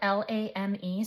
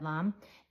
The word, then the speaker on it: lame: It's spelled L A M E, so I always want to say bread lame, but I actually had to look it up. It's a bread lamb.